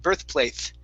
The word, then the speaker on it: birthplace: practice with you is birthplace. Now, because we had the TH there in the middle, you pronounced a TH at the end, birthplace. Okay, so you want to say a S, birthplace.